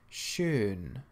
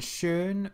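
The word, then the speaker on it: schön: little word in German soon soon well firstly you'll notice there is an umlaut over the oh so it's pronounced like an ocean and shurn means beautiful soon so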